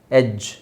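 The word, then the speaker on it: edge: ಗೊತ್ತು large charge barge ಎಡ್ಜ್ ಸೋ ಇದು ನೋಡಿ ಎಡ್ಜ್ ಡಿ ಸೈಲೆಂಟ್ ಆಗಿರುತ್ತೆ ಸೈಲೆಂಟ್ ಡಿ ಸೈಲೆಂಟ್ ಆಗುತ್ತೆ ಅಂತ ನಾನು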